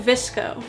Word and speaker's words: VSCO: you want to go to visco which is spelled vsco it's a very popular